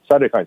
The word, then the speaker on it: cytokine: now a couple of times and correct my pronunciation of the cytokine storm cytokine storm yeah what significance of that it seems